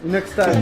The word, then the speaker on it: Inoxtag: Tu prononces bien Inoxtag, c'est ça? Inoxtag.